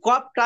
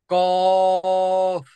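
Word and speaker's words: قاف: কফ, আরো সহজ ভাবে যদি বলি, কফ। আমাদের আমাদের একটা ছোট জিহ্বা আছে ভিতরে, এই হ্যাঁ, জিহ্বাটা উপরের দিকে যায়, এভাবে টস করে লেগে যাবে, তখন উচ্চারণ হবে অফ।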